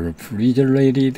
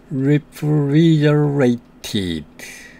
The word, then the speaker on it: refrigerated: refrigerated. 여기에서 A와 E 사이에 T가 왔습니다. 두 개의 모음 사이에 T가 왔기 때문에 flap T가 됩니다. 그래서 T를 발음하지 않고 약한 D처럼 발음하지만 듣는 사람에게는 R 발음 비슷하게 들립니다.